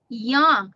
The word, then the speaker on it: young: Remember, for the short U sound is oh, young.